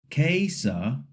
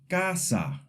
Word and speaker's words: casa: The wrong way would be to say kasa or casa. The letter a in Spanish says ah. So the word is casa. Repeat after me. Casa.